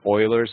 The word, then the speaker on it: Euler: we're going to be learning about the this euler's paths and circuits so it's spelled e-u-l-e-r but it's pronounced euler basically the